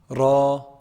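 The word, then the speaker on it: راء: Ra, ra.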